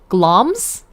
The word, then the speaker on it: Glamis: I assumed there would be vowels that weren't pronounced the way I thought.